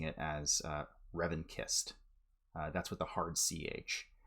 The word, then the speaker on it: revanchist: It's actually pronounced revanchist. It comes from the French word for revenge, which is revanche.